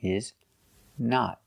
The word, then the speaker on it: not: We use the short sound ah like hot and stop. The short ah sound. Not. Not. The correct pronunciation is not. Use a stop T at the end and a short O.